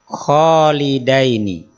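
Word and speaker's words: خالدين: Kholidaini. Biasanya kalau terdiri dari huruf kho, alif, lam, dal, ya, nun, biasanya apa bacanya? Kholidina. Nah, di ayat ini kholidaini.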